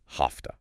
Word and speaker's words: have to: When it means obligation, like here, it almost always becomes ha. H a fa. Hafta. Hafta.